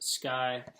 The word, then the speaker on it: SCCY: so it's spelled SCC why but it is pronounced sky as well so anyways opening the box up